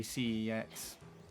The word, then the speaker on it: CeX: I mean, it is supposed to be pronounced like that, but I think most people in the UK just say C X.